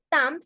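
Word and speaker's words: temps: está que está acá tam que significa tiempo no se pronuncia la s porque es una palabra que viene en singular Pero casualmente en francés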